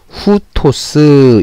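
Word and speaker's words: οὕτως: 그래서 요 우에 히읗이 올라가서 후, 그 다음에 티귿과 오, 시옷. 그래서 후토스 이렇게 읽어주는 겁니다.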